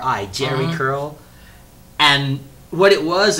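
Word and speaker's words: Jheri: they have it was called a Jerry curl that's spelled j h e r i Jerry curl and what it was is they put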